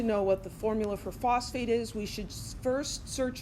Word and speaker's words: phosphate: you know Mike well why isn't it Foss for eight well sulfur and phosphorus this vowel or this syllable here kind of comes and goes seemingly seemingly randomly and that's another thing that I won't take points off for but I will correct you so this is phosphate that's this silk this or syllable just kind of disappears so phosphate what's the